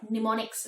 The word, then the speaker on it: mnemonics: So first of all, the strategies used for enhancing memory are called mnemonics, where the M is silent.